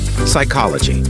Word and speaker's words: psychology: silent here's the trick the letter P is not pronounced at the beginning of many words using the combinations PS PT and PN p is not pronounced